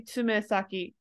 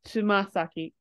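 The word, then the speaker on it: 爪先: So you'd think it'd be tsumesaki, but it's actually pronounced as tsumasaki.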